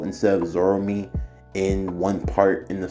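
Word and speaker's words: Zorome: him zorro mo i think i called him zoromo instead of zoromi in one part in the story so i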